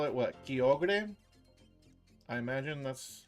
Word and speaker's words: Kyogre: Kio was how you said it too before ever hearing it. Kogre. But surely it's Kyogre. It is an ogre.